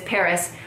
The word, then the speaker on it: PVRIS: don't know about them their name is Paris but it's spelled PV RIS because I don't know